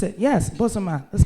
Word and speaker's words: Bozoma: Correct, and pronounce it. Yes, Bozoma, that's correct, And that for me, there's a